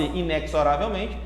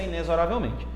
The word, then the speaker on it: inexoravelmente: é sintaxe Tá certo assim como inesoravelmente eu sei que na música fala-se Inexoravelmente mas o correto da pronúncia inesorariamente tá bom Então vamos